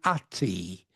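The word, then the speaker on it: Atë: It was called ati which means it's spelled at which is divine madness.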